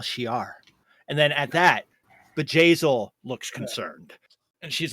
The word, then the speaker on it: Bjayzl: Bjayzl. It's a B. Stop. It's a I B. need you to really pronunciate the B. It's not a V as in Victor. It's a B as in boy.